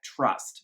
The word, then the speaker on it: TR/ST: to to tr /st it still is pronounced trust in interview so I'm going to